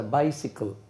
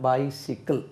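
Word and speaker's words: bicycle: ஹீ ஹேஸ் அ பென், ஹீ ஹேஸ் a book, he ஹேஸ் அ கார், ஹீ ஹேஸ் a bike, he ஹேஸ் அ பைசிக்கிள். அது எப்படி உச்சரிக்கணும்? பைசிக்கிள், பைசைக்கிள் சொல்லக்கூடாது.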